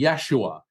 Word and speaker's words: Yeshua: and it was and his name in in Aramaic or the closest we could pronounce would be Yeshua he was um Yeshua